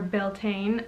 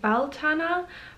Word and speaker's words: Beltane: So it is almost time for Beltane, and I'm probably mispronouncing that, I am aware. I believe it is correctly pronounced Baltana, but I may be wrong.